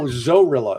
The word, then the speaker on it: Zorilla: No, Zorilla. It's spelled like gorilla but with a Z.